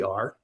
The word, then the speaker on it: Er: And the myth of R spelled E R. It looks like but it's pronounced R.